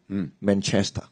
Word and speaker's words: Manchester: the most favorite football club in Hong Kong Manchester yeah yeah Manchester Manchester yeah not uh not